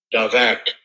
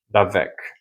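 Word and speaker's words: דבק: Davak. Davak. Ele dá a And the pronúncia. form just below that, Davek.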